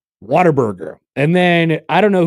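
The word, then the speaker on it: Whataburger: And the tweet says it's pronounced waterburger.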